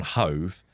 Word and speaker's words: Hove: And they, for some reason, in Brighton's neighbouring town Hove, there's like a meme basically of Hove actually, because it's one letter away from love actually, but you go pronunciation wise, they're completely different.